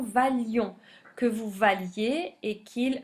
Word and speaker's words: valions: On supprime le i et on supprime un l, la prononciation valions, que vous valiez et qu'il vaille.